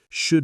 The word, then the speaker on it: should: Should we, the L is silent, maybe we drop the D, shoo we.